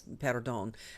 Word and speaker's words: perdón: And, if it's the second to the last syllable is the one you accent unless there's an accent mark, then like, pardon me, right? It's perdón. And it's like perdón. So the accent goes on the first syllable. But it's marked that way.